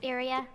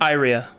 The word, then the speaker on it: Iria: pink girl's name again area i said area more like wait no have arcades say it how do you say the name iria okay i like more like diarrhea and red red and